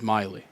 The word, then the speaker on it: Miley: Um and said Miley and I was like really I think that was like the last thing I would have tried to pronounce it as but it is Miley.